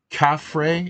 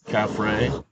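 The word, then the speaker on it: Khafre: the the Pyramid of cafre is that how it's pronounced I'm not sure C caffray yes so uh Bruce let's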